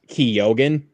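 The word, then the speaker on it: Keoghan: Is that the one Barry Kee in uh Barry Ke says it like in interviews? It's pronounced Kogan. Okay. Kogan.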